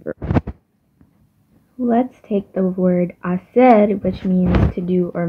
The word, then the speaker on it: hacer: while the actual H, the H in Spanish, which is he, is just silent. So that's why if we're talking about hacer, it would be hacer, not hacer.